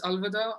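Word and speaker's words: अलविदा: south africa really said it's in hindi it's alvada um ania go ahead wait i just forgot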